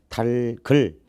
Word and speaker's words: 닭을: 근데 달글 거기서 달 리을은 남아있고 기역이 을 자리로 이동하지.